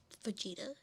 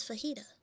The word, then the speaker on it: fajita: I'm like, no, Grandma, it is not Vegeta. It is fajita.